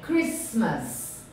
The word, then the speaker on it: Christmas: é muito bom se fosse dois ésses Ok Christmas Christmas Christmas is and o october and December